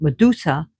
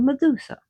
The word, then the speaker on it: Medusa: Notice how I say her name, not Medusa, but Medusa. In Greek, the D was a DH.